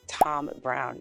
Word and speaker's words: Thom Browne: You guys know that this is pronounced Thom Browne, even though it's spelled with a Thom.